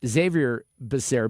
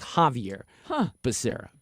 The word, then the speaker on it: Javier Becerra: pronounce Javier Becerra's name, because I've been saying it Xavier Becerra because it's spelled with an X. Oh. And then a lot of people say Javier. So I've heard it both ways. Well, we looked it up, and Wikipedia told us that the pronunciation is Javier Becerra.